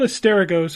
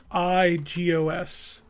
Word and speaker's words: Asterigos: It's called Hysteragos, and actually I pronounced it incorrectly before I played it because I had never heard them say the word.